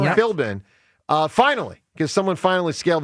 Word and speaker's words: Philbin: Philbin, yeah. Philbin.